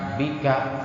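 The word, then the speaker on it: بِكَ: Saya disebutkan ketentuannya bahwa isim domir itu mabni, tetap tidak mau berubah, sehingga tetap menjadi dibacanya ka, bika, tidak dibaca biki.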